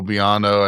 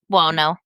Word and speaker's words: Buono: And he implicates his cousin, Angelo Biano, I think Biano? Buono. Buono, Buono. you know me, Buono. my pronunciation of More names.